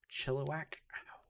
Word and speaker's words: Chilliwack: is public it is Chilliwack British Columbia also I think I'm pronouncing it better now I literally added too much emphasis on the chili and not enough on the whack so hey look not